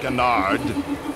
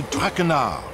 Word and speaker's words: Traquenard: Not Traquenard. It is Jean-Michel Traquenard. Jean-Michel Traquenard.